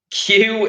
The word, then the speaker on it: queue: a queue for example queue is one of those bizarre words where the only letter you pronounce is the first letter which I love about that word the thing okay